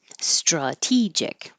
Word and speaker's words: strategic: when it's a adjective anytime you see a word ending in i see that tells you that the syllable before will be stressed so strategic the a changes to uh because it's no longer stressed so it can be